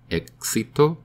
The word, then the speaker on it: éxito: little X in Spanish the current sound of the X in the middle of a word is like KS for example éxito success sounds like a